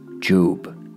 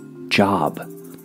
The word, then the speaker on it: Job: So what do they call this man? Job. Or Job. Either way, it's spelled the same. And though the pronunciation may throw some off, make no mistake that